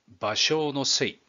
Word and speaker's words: 芭蕉の精: バセウォのせい、バショウのせいと読みます。